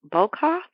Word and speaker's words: Boekhoff: Another one I want to recommend is Janice Bokoff, and her last name is spelled Boekhoff.